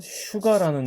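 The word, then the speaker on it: sugar: 발음 날 것 같지만 이거 슈가라는 단어 한번 생각해 보세요 이거 수가라고 읽지 않죠 슈가 sh로 발음한다는 거예요 그만큼 좋은 위치가 서로가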